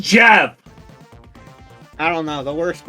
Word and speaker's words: GIF: No, Jeff. it's pronounced Jeff.